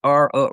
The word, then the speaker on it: Rokon: He pronounced it Rokon, Rokon, and he took the letters from his restaurant, On the Rocks, flipped them all around to come up with Rokon.